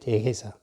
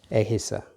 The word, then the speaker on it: Egisa: in the Western countries, they pronounce the A like in English E. That's why they write this one with the E, with letter E, like that. They write like that, Ehisa. Now, according to me, when I pronounce this one as an Otuhoni, this is to me is wrong, because it's going to be Ehisa.